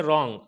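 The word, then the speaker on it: wrong: जाएगा इसी तरीके से रोंग आर से पहले डब्लू साइलेंट हो जाएगा इसी तरीके से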